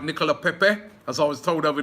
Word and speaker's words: Nicolas Pepe: Nicolas Pepe, or let me pronounce it right, Nicolas Pepe, as I was told over there in France yesterday, is a Gooner.